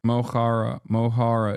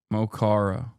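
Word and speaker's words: Mo Chara: Mohara is how you pronounce it. Mochara.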